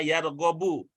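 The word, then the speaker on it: يرغب: Yargobu fi juga begitu, nanti ada ya, ada ro, ada ghin, ada ba. Nanti walaupun tidak ada barisnya seperti ini, bacanya yargobu.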